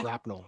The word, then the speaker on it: grapnel: I always thought it was grapnel with the L. Because Yeah. in Beware the Batman, there's a specific scene where he says it's grapnel. It's pronounced grapnel.